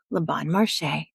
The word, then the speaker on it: Le Bon Marché: Le Bon Marché.